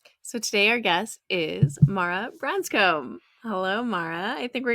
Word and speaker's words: Mara Branscombe: Well, we're here to talk to Mara Branscombe.